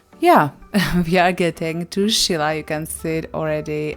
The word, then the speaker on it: Scilla: you can see there I feel like pronounced it always different Sila Chila we found out that the correct should be Sheila the drive there was